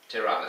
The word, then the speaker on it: Tirana: Capital, Tirana, I think they call it, well, pronounce it rather. Tirana, spelt Tirane, T-I-R-A-N-E.